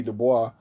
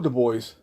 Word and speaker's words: Du Bois: Du Bois, or Du Bois, however you want to pronounce it, this was his legacy.